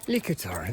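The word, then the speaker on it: Litochoro: Likator, that's how it's pronounced. There's no ch noise apparently in the Greek language.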